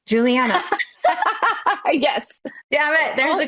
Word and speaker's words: Juliana: Juliana.